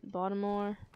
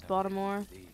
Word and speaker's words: Baltimore: Yes, it's Baltimore. Like, I realize people, it's pronounced Baltimore, but, like, nah, it's Baltimore.